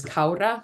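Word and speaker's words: Kára: pronounce her name as Ka which is how you pronounce the a with the accent above it and she's a valkyrie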